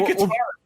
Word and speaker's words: Katara: Say Katara, right? That's the one you say right. Because it's like katana.